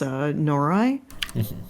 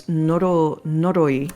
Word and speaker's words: Noroi: Like one of the movies I watched recently is Norai. No, it's Noroi.